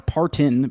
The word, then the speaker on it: Parton: I've always said Dolly Parton. I know it's Partin, but is it right?